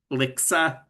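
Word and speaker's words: LHCSA: acronym stands for, but it is pronounced LICSA.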